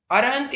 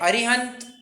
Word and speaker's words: अरहंत: आपको पता होना चाहिए णमोकार मंत्र में भी अरहंत इस शब्द का प्रयोग किया है अरिहंत ठीक है लोग उच्चारण कर लेते हैं परंतु अगर नवकार मंत्र का श्रद्धा उच्चारण करना है तो और हांथानम सी करना है अरिहंत नहीं करना क्योंकि क्या है एक